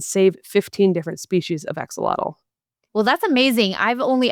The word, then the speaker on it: axolotl: home to the critically endangered aquatic salamander, the axolotl, which is how it's pronounced in English.